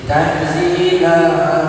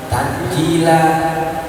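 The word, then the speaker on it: تنزيل: maha perkasa gagah jadi Tanzil tanzilal azizir rahim ingat Bacanya jangan tanjila pakai Zai tanjila maknanya turun artinya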